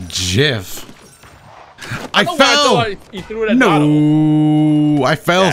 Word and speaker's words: gif: the moment please inform dotto how to properly pronounce the word gif it's jeff i thought no i fell somebody could i